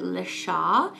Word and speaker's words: LeChat: we are talking about the nail polish brand Lea I know I butchered it in my last video about this